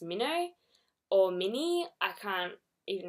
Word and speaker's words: Minho: and I just realized too that I am pronouncing his name as Minho when in the movie it is pronounced Mino or mini I can't even remember it because